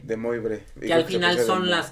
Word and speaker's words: De Moivre: Que son los yo sí creo que es de Moab, ¿no? Aunque se escribe de Moivre. De Moivre.